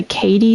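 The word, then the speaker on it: Cady: The she also goes by Katie, spelled like C A D Y.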